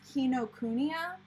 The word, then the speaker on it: Kinokuniya: something like that but if you're going off of actual japanese pronunciation typically there's no emphasis on any syllable the best way to